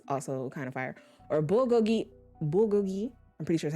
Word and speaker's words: bulgogi: You said it right, bulgogi.